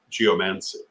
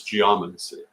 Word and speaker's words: geomancy: I've got to tell you, in the English language, geomancy is not the pronunciation. The pronunciation is geomancy, just as you would say well, it's like any other Greek word you bring into English, and you would say, for example, biology, not biology.